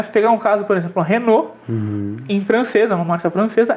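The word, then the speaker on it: Renault: casos a gente traduz um nome traduz a pronúncia do nome e às vezes não é pegar um caso por exemplo renô em francesa marca francesa é exatamente 100 renô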